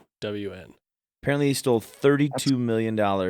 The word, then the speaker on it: Ghosn: So the S is silent. and the H. Well, gone. Gone. GH. The way they spell it for pronouncing it is just yes. GOWN.